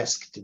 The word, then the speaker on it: asked: O certo é asked. Asked. Mas esse de baixo também é aceitável. O que não pode é pronunciar o E, viu, Giovanni? O E você não pode pronunciar, não. I asked.